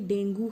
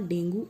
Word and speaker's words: dengue: The correct pronunciation is dengue. Spelling looks like dengue. लोग बोलते भी हैं कि डेंगू है, बट इट्स नॉट डेंगू, इट्स डेंगी, right.